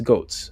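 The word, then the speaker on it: Goetz: That's goats spelled go o e t z. I think that's pronounced goats.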